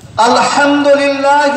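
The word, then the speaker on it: الحمد لله: দেখুন, আলহামদুলিল্লাহ রাব্বিল আলামিন, এই আলহামদুর হা কণ্ঠবর্ণ, তা আমরা যদি এটা ঠিক উচ্চারণ না করি মানেটা কত গোলমাল হবে। আলহামদুলিল্লাহ, প্রেজ বি টু আল্লাহ, সমস্ত প্রশংসা আল্লাহ, আর আলহামদু ছিঁড়া ফাটা কাপড়কে বুঝায়। তাহলে উচ্চারণের গোলমালে নামাজে দাঁড়িয়ে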